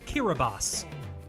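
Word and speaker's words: Kiribati: aie wrong what a fool I am it's pronounced kirbas and that's your pronunciation lesson for the day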